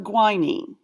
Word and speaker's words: guanine: And this one's always weird because the U is pronounced guanine.